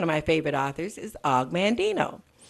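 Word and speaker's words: Og Mandino: my favorite authors is Augmon Dino Alec stands for Augustine but he they shortened it to aughh aug and then he just said og of Mandy no he spelled it phonetically Augmon Dino wrote the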